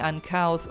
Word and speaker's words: uncouth: Nee, Leute, ich war voll falsch. Seht ihr gut, dass ich geguckt habe? Hört mal. Uncouth. Uncouth. Also mit einem U quasi.